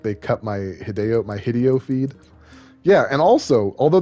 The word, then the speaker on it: Hideo: i think is hilarious his name is hideo it's not hideo but because he replaced video with hideo everyone thought his name was hideo you know that's that's